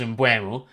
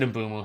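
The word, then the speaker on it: Mbeumo: with the name because everyone at first thought it was in Bumo, then it's in Bumo and then there's another one the way they pronounced it the other day, but he himself has said in Bumo, so I'm going with that.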